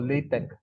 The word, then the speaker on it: LaTeX: way what we call latex latex this is the way to write equations okay this is latex it's it's pronounced as Tech not text because X here is